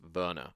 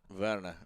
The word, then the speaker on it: Werner: It's spelled Warner, but obviously he's German, so it's Werner. Werner.